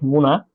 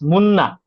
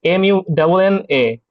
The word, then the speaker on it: Muna: Actually most of them my clients really do not pronounce my name correctly. They uh correct pronounce like muna but it's muna.